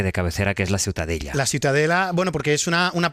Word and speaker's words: Ciutadella: ¿Cómo se pronuncia? La Ciutadella. Ciutadella.